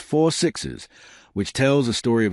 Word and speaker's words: 6666: And then there's a long-rumored 6666 series, pronounced 4 sixes, which tells the story of a specific ranch named, 6,666.